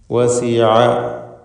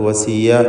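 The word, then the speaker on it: وَسِعَ: വസിഅ, ഐനിൻ്റെ ഉച്ചാരണം നേരത്തെ സൂചിപ്പിച്ചതാണ്. അത് വസിയ എന്ന് തെറ്റായി പലരും പറഞ്ഞു പോകും, അത് സൂക്ഷിക്കേണ്ടതാണ്.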